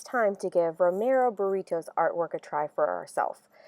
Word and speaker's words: Britto: talk to you about an artist named Romero burrito so let's try to say his name I'm